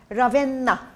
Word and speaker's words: Ravenna: Is it Ravenna or Ravenna? Ravenna. Ravenna. R-A-E-N-N-A. Ravenna. But when you pronounce it, you say Ravenna.